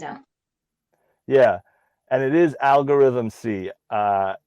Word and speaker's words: Algorythm-C: yeah and it is algorithm c uh i was calling him algorithmic for a while um but we've learned since then that is algorithm c getting better with it